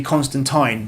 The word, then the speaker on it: Constantine: should be it's called Constantine although technically apparently it's supposed to be constant time because that's the British Way of pronouncing it anyway that's that's that's